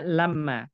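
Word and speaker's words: لَمَّا: Kalau menjelaskan waktu, saat, maka dia bacanya lamma, Mas Wahyu.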